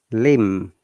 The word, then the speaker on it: limb: We shouldn't pronounce it, guys. Next one is limb, LIMB, not limb.